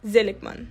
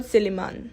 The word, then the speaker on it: Zelikman: The correct accent in her surname goes on the first syllable, Zelikman, not Zeliman.